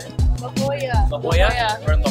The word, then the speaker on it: La Jolla: Jawa? Oh, no. Is that how you say it? La Jolla.